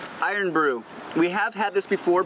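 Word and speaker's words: Irn-Bru: Iron Brew.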